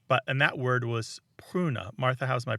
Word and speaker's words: pruna: what a road but and that word was pruna Martha how's my pronunciation on Latin p r u in a